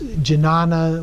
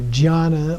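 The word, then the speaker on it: jñāna: And Yeshe is the same as Jnana or Jnana or Jhana. People pronounce it different ways. It's different between Sanskrit and Tibetan there.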